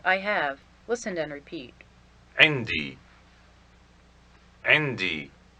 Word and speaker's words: عندي: عندي. عندي. It is made up of the adverb عند and the attached pronoun for I, or my, pronounced e.